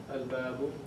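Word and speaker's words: الباب: While a moon letter, you pronounce the alif lam. So, let's give some examples. A moon letter, give me an example. Al-babu. Al-babu. Al-babu. Notice that we say al, naam.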